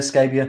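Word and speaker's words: Scabbia: uh christina scabia yeah how you pronouncing this scabia scabia thank you she's she sang on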